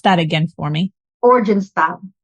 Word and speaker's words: Oranjestad: Pronounce that again for me. Oranjestad. Oranjestad.